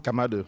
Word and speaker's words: Kamadu: I want to make sure I'm pronouncing your last name correctly. Kamado? Kamadu, yeah. Kamado, okay.